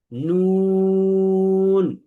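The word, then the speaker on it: نون: আগাটা আছে, এই আগাটা তার উপরের তালুর সাথে লাগবে। এই যে দেখেন জিহ্বার আগাটা তার বরাবর এই উপরের যে তালু আছে, উপরের যে তালু, দাঁতের গোড়া না বরং তালু, এই উপরের তালুর সাথে লাগিয়ে উচ্চারণ করতে হয়।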